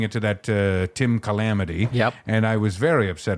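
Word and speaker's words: Chalamet: I think it's French I think it's pronounced sh it's only shalam if it comes from the shalam region of France I can't believe I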